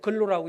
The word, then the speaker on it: GLO: CTI 원장 하셨던 형제님이 타문학번 선교를 가기 위해서 이제 호주에 있는 지혜로 근로라고 읽는데 GLO 약자입니다.